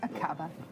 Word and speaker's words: Aqaba: Aqaba? Is that how you would pronounce it? Yes, Aqaba. That's right, Iris.